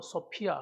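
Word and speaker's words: σοφία: 좀 지혜라고 하는 것은 헬러 으로 소피아 하는 말이고 지식 이란 말은 그노시스 란 뜻입니다 그렇게 발음을 합니다 그게 어떤 사람들이 큐베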